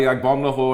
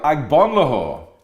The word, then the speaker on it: Agbonlahor: little pause, and I went, number 12, Gabriel Agbonlahor, right? So the next thing, all the Everton fans cheer. So Gabriel Agbonlahor was going, because I pronounced it properly.